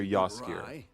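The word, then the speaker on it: Jaskier: If you watch the show, it's the character Yaser. That's spelled J A S K I E R.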